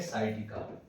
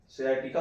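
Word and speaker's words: sciatica: गया तो उसको बोलेंगे साइटिका। ठीक है, सियाटिका बोलते हैं नाम इसको, सियाटिका उच्चारण सियाटिका करते हैं, लेकिन साइटिका जो है, ठीक है, कॉमन बोलचाल में बोला जाता है।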